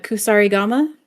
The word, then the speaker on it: kusarigama: Can you pronounce what the weapon is called? Uh kusarigama.